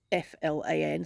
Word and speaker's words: flan: afternoon I've made FL which is pronounced FL it's f l an so flan um and it's like